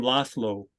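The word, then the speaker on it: László: but it's not pronounced you don't pronounce it like a z that's actually the soft s so for example the name laslo l-a-s-z-l-o a lot of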